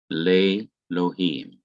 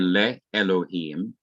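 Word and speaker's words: לֵאלֹהִים: of the word lohim, le lohim, le lohim. This part is not pronounced at all. So it's no longer le Elohim, it now is le lohim.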